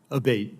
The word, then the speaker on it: Abate: uh Mr Abate and am I saying your name properly we've heard it pronounced three different ways today in the hearing aate Senator aate okay thank you um